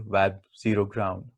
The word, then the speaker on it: WebZground: with web z ground where z stands for the zero so it can be pronounced as the web zero ground we will come to